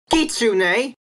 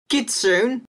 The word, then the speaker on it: kitsune: This word should be Kitsune, not Kitsune.